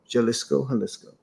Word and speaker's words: Jalisco: When we stepped out of our Airbnb in Jalisco, how to say it properly, Jalisco.